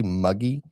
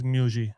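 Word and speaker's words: Muggi: So, I'm going to say muggy. It's mugi. Mugi. Okay, mugi. I don't know. And so, what mugi is saying right here, a 12-hour brisket cooks are about tradition, not product.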